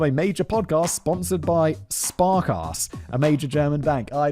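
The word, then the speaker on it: Sparkasse: Yet, there he was featured on a major podcast sponsored by Sparkass, a major German bank.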